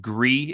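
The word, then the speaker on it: Gris: i played on stream called gree it's spelled g-r-i-g-r-i-s um what a beautiful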